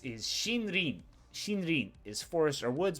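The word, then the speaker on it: 森林: Number 6 is shinrin. Shinrin is forest or woods. Both of these kind of mean forest. One of these is forest, the other one is grove. And together you get a shinrin, or a forest and woods.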